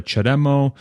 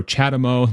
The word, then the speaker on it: CHAdeMO: it's significantly smaller than the chademo or chadamo depending how you want to pronounce it and the CCS adapters